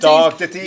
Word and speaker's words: Ditties: IMDb, check out his films, check out Dark Ditties. Is that Ditties? Dark Ditties.